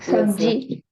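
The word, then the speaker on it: सब्ज़ी: Sabji.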